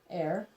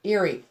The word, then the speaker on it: ere: How do you say E-R-E? Air. Airy. Eerie. That's why he said eerie. It's eerie. I'm like, No, it isn't. that's air, and it means 4.